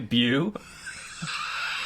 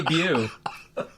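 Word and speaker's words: Beau: For people in Indiana who didn't know how to pronounce Bo. What would they call him? B-E-A-U. Bu. Hey, Bu.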